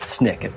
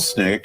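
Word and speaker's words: SNCC: chairman of that committee why called Snick uh called Snick it was called snck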